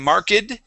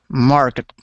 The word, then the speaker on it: marked: So instead of saying marked, this is an ed ending that sounds like a T. Okay. It is marked. Market.